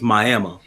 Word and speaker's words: Miami: at, and it's called Miami, even though it's spelled like Miami. It's Miami.